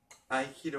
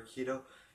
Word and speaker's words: Aikido: It is called Aikido or Aikido. It's spelled A-I-K-I-D-O.